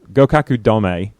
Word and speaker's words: Gokuaku Domei: Gokuaku Domei. Did I get the pronunciation right, Chelsea?